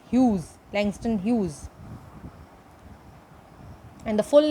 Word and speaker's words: Hughes: a World by Langston Hughes. The correct pronunciation is Hughes and not huge or Hugh. It's Hughes, Langston Hughes.